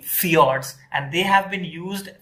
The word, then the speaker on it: fjords: this is known as fiords FJ o r DS f i o r DS many times so this J is pronounced as y so in Norway and